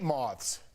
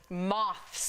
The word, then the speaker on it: moths: I hate moths. Moths. It's not moth. It's moths. You say it like mauve.